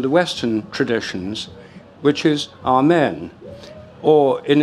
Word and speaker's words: Amen: And the way it's written is with the eta, the long E.